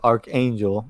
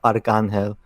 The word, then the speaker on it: Arcángel: Archangel, or in Spanish it's Arcángel.